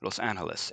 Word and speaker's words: Los Angeles: who spoke Spanish so they use the Spanish pronunciation of the city Los Angeles and that's the way